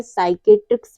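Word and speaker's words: psychiatrist: पे P silent है rule हमारा क्या कहता है पी के बाद यदि एस आता है तो पी हमेशा साइलेंट रहता है जैसे है साइकोलॉजी साइकेट्रिस्ट और साइकोथेरेपी इन सब में क्या है पी के बाद एस आया हुआ है तो यहां पे पी साइलेंट होगा अगला रूल है लेटर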